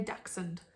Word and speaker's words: dachshund: chocolate labrador across now i say dachshund if anyone else pronounces it dash hunt i'm sorry but i said accent